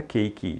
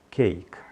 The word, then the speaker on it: cake: tá vendo que bolo termina em E então não coloa esse não é pronunciado Então não diga cake diga cake agora por outro lado